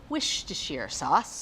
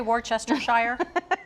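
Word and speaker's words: Worcestershire: to say it because i always say it wrong wish to shear sauce you don't say worchestershire i did i used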